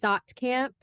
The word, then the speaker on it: Saatkamp: It's Saatkamp, Saatkamp. It's like German Dutch, but yes, I went from to Saatkamp.